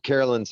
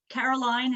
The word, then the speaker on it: Caroline: to speak yeah uh carolyn's up next right caroline yeah okay take it away carolyn hey caroline is how you say my name oh i'm sorry it's